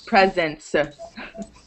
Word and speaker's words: presence: e's at the end when words end in c e the e at the end is silent yes you don't say presence attendance it's just presence